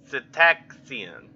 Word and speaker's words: cetacean: This phenomenon appears even more mysterious because up till then the region was a favored refuge for cetaceans. Cetacean. I don't... Where's my phone? I don't want to keep mispronouncing a word.